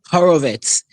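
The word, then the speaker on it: Horowitz: It's Ammy Aurorovitz as you would pronounce it. H O R O W I TZ.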